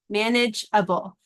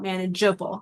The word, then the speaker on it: manageable: So we do need the E here to make the J sound. So if we only have G and A together, it makes a hard G sound, not the J sound, J that we want.